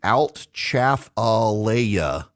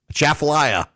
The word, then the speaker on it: Atchafalaya: The Altchafalaya. Chafalaya. Yes. Names and pronunciations.